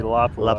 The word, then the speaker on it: Lapua: We were over at the Burger Vitivori Lapua booth yesterday, and they Lapua? said it's supposed to be Lapua. Lapua, yeah, I know. I always say it wrong.